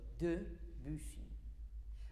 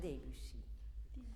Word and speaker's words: Debussy: And it is also Debussy and not Debussy, because people want him more beautiful than he is. He is fine, and his name is fine. His name is Debussy.